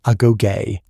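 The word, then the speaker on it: agoge: The Spartans called their education system the aogue, pronounced a goay.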